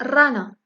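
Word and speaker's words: rana: أول مثال هو رانا. رانا. إر في أول الكلمات كتنطق بالشدة.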